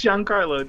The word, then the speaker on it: Giancarlo: Yeah, I'm not sure how you pronounce that last name at all. It's Giancarlo, dude.